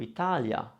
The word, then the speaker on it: Italia: two vowels and namely you have i followed by any other vowel you will find that the eye is softened it becomes a semi vowel almost which means we don't stretch it as much and we just go over it more quickly and that's why this will sound to you italia that e is often